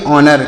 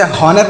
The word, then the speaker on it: honour: इसे पढ़ेंगे ऑनर। क्या पढ़ेंगे? सॉरी, इसे हॉनर नहीं पढ़ेंगे, ऑनर पढ़ेंगे।